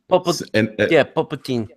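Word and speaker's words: Polpettine: Pulpatine. Okay, so Senator Pulpatine for you Star Wars fans.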